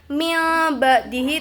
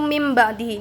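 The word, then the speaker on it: مِنْ بَعْدِهِ: sama huruf ba ya, pasti bacanya udah jadi mim ya, bukan min ba'dihi itu salah, terus min ba'dihi itu salah. Jadi cara bacanya itu mim ba'dihi.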